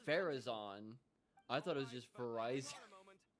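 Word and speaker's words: Faruzan: Ferraon.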